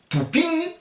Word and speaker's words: toupin: Et on termine par le pot, qui se dit lou touping. Vous avez vu la prononciation IN, vous mettez un G et vous l'enlevez au dernier moment. Vous faites lou touping et vous enlevez le G.